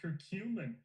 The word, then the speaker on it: curcumin: parasite and animal models circumin circumin this word curcumin curcumin here listen to this guy say it right curcumin curcumin eliminated cycllospora infection and reduce parasite shedding by 93.5%.